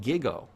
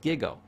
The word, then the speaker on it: GIGO: It's called gigo. It's pronounced gigo.